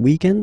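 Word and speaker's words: week-end: we're talking about the weekend okay but then pronounce it the French way weekend the weekend okay but then in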